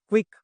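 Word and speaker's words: quick: गया यह कट गया सी भी एक्स्ट्रा है तो इसको स्पेलिंग में है भले ही लेकिन वोकल में एक ही सी आ रहा है ना क्विक तो इसका कोई काम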